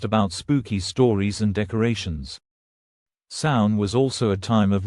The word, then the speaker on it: Samhain: The modern-day holiday traces its roots to the ancient Celtic festival of Samhain, pronounced Samhain, a harvest festival marking the transition from the warm summer months to the cold, dark winter.